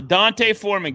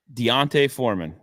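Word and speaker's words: D'Onta Foreman: He's playing so well, I'm going to have to say his name correctly. Deontay Foreman. Did I get it right that time?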